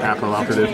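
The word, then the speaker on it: Papilloperative: A lot of people don't know how to pronounce that. Papal Operative.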